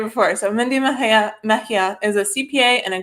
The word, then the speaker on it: Mejia: Mindy Mejia, she told me to pronounce it right before. So Mindy Mejia is a CPA and a graduate of the Hamline University MFA program.